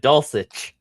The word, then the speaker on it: Dulcich: Dulcich. Yeah, retard. So Dulcich, he scored 13.7 points.